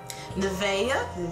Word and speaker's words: Nevaeh: It says, Nevaeh, which is how you pronounce her name, Nevaeh Simon has achieved success beyond anything the Houston native could have imagined.